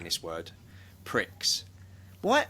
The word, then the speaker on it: Grand Prix: I hate saying this word, pricks. Why? How do you say it? Grand Prix, isn't it?